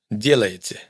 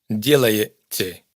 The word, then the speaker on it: делаете: Todas estas últimas sílabas suenan igual, aunque en кстати hay una i y en el resto hay una ye. Esto hay que tenerlo en cuenta porque a menudo nos ocurre que intentamos ajustar la pronunciación a lo que vemos escrito, y nos esforzamos por pronunciar una i en кстати y una ye en делаете. Pero para un ruso son vocales indistinguibles.